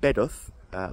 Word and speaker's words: Bedworth: title is is uh bed uh that's how the locals say it bed uh and I was I was categorically warned on Facebook to make sure I said it like a local or there would be